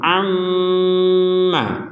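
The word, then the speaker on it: أمّا: ilin A jadi jelas mim bertasdid kita baca dengan dengung sama seperti Nun bertasdid Inna In dengung dulu baru na Ini sama juga ini juga Amma Amma jadi dari 28 huruf hijaiah hanya Nun dan mim yang kalau bertasdid dibaca ee ee ya hanya Nun dan mim yang dibaca dengungan dengan syarat ada tasdid di atas Nun atau mim ini ammaalun Baik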